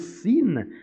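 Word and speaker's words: שׂ: est pointée à droite, cette lettre se prononce Chine, c'est la Chine, c'est l'Orient, et quand elle est pointée à gauche, elle se prononce Sin, Sinaï.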